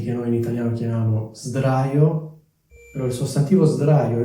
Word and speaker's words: sdraio: Un'altra cosa che vorrei precisare, si dice sdraio perché c'è una D, quindi la S diventa una S, quindi sdraio, non straio, perché poi è anche difficile da pronunciare.